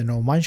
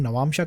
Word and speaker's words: नवमांश: अलग अलग लोग अलग अलग तरह से इसे प्रोनाउंस करते हैं। कभी मैं इसे नवमांश कह सकता हूँ, नवांशा कह सकता हूँ, तो उसमें आप मत उलझिएगा।